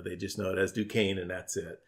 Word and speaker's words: Duquesne: to quiz me and he said no that's pronounced Duquesne yeah questioning I think still around these days I hear that on a radio a lot a lot of people say do quiz knee in fact yeah yeah